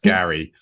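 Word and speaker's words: Geri: Frey Frey yeah Frey and Gary Gary it's pronounced Gary so so after after his family are all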